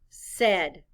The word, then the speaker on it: said: s a i d the letters a i stand for the short e sound blend with me now